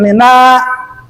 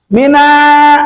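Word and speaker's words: مِنَّا: Minna, minna nun musadah. Apa hukumnya gunnah? Panjang lagi naknya. Hati-hati. Banyak orang yang membaca kalau nun musadah, contoh kayak di sini, mina, salah.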